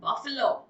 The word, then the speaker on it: buffalo: नो, it's not called buffalo, it's called buffalo.